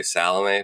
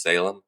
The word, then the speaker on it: Salame: a fourth Ryan Salem which is I believe how you pronounce it I used to call say salame but I think it's Salem Ryan Salem has plad